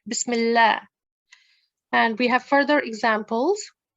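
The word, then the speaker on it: بسم الله: see the example Bismillah now this lamb due to certain conditions which I will go in the explore further with you later on is going to be pronounced with the thinsan okay it's not going to be pronounced with a tickson Bismillah that's wrong that's not the way we pronounce it we'll pronounce it Bismillah and we have further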